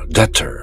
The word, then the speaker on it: debtor: debtor. 이때 be는 발음하지 않죠. 그저 det처럼 debt 그렇게 발음하죠.